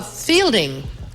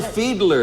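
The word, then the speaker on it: Fiedler: the Boston Pops Orchestra sh audience oh uh Fielding Fielding Fielding Fielding I believe it's pronounced Fielder so Fielder Fielding so you would disag I would disagree with her pronounce Arthur feedler you disagree correctly you have the circle and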